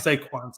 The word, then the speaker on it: Saquon: I think you're saying saquon just because you like saying the name saquan it's a cool name to say saquan just say it like two times say Quan say Quan it's a cool